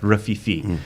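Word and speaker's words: Rififi: at a bar who's singing a song about Rafifi, and I went, "Oh!" Slapped her on the leg. It's the name of the movie, and then went, "That's how you pronounce it."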